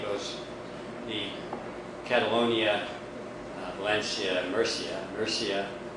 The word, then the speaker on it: Murcia: Murcia, it's pronounced Murcia.